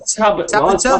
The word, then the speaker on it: Tabata: I think there's several different pronunciations depending on where you're from. But me personally, I pronounce it Tabata, but I guess it depends where you're from and how you pronounce it. I've heard several different pronunciations of it. I don't think there is a right and wrong way, in all honesty.